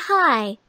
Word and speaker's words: high: Yeah, and look at the word high. I-G-H makes the long I sound in this word.